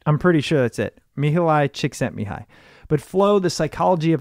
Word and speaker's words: Mihaly Csikszentmihalyi: Okay, so I actually think I know how to pronounce it because I've referenced this a few times, and it's Mihaly Csikszentmihalyi. Yeah, what he said. I'm pretty sure that's it. Mihaly Csikszentmihalyi.